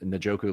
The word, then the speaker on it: Njoku: I know I have the pronunciation of your last name correctly with Njoku, like the Browns, Like the tight end, Browns, correct?